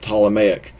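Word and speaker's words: Ptolemaic: was the talic model the P there is silent tmic this is 100 170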